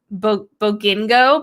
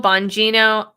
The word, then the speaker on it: Bongino: say this guy's name mentally i always call him um bogingo but that's not bogino bongino i don't know that